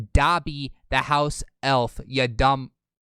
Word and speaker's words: Dobby: window now because salty doesn't know how to pronounce dobby all right the video you showed he says rice he says dobby the house elf yeah dumb he says dobie dobby the house oh he says i'm moving